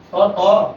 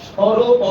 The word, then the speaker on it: স্বরে অ: এজন্য আমরা স্বর অ বলতাম অনেকেই, স্বর অ মানে এই স্বরটাকে স্বর অ বলতাম। সঠিক হবে স্বরে অ।